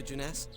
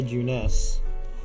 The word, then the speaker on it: Junes: come with me to jeunesse sure let's go to juness you should build a juness here let's smack everyone who pronounces it Junes they should build a